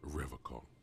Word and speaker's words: Revachol: He pronounces Revachol with a hard K, unlike other people. I like to pronounce it the hard way. The old way.